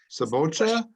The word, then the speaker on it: cebolla: It looks like cebolla, but you said cebocha? Cebolla. Cebocha. Yeah, that's the Argentine accent.